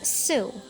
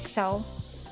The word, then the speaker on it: sew: it is pronounced as su so they also pronounced sewing as suing but it is really pronounced as so and sower here is